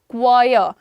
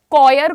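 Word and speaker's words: choir: Pronunciation क्या है? क्वायर। कॉयर, कॉयर करना बंद करो, इट इज क्वायर, क्वायर, क्वा क्वा, ओके।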